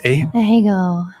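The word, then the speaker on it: ahegao: I am the Ahego Queen. What is how's it pronounced? Ahego.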